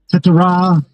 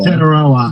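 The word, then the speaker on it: Tetairoa: Uh, Tetra, however you pronounce his name, McMillan. Teteroa McMillan, or as his friends call him, T-Mac.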